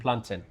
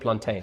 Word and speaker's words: plantain: you guys pronouncein plantin not plantain not plantain so do you cook the um the jerk chicken Uh-huh.